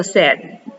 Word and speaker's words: said: that way anymore so it's kind of like sed like tengo said that's how it's pronounced